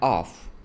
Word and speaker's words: off: Oh, that's the difference between off and off. Wow. What a language. Okay. Language is good, bro. words. We say of with a v sound of and we say off with a f sound of.